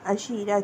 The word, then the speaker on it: عشیرہ: معاشرت کرتے ہیں اس لیے عشیرہ کہا گیا۔ عشیرہ کی سپیلنگ عین شین یہ رے اور گول ہے۔